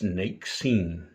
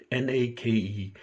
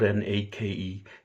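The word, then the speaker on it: Náqiḍín: And the other is Nakeseen, Nakeseen. In some areas, it's spelled Nakezeen.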